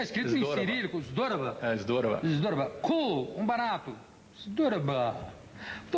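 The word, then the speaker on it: Здорово: Dropobo. Não, melou no final do Zdorova. Mas também está escrito Zdorova. Em cirílico, Zdorova. Zdorova.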